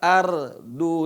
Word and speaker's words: ardu: Nah, perhatikan ra-nya. Bukan idza dukkatil ardu dakkan dakka. Dan sini seringkali terlupakan oleh qari yang membaca, ra-nya tidak dibaca tebal. Bacanya tipis.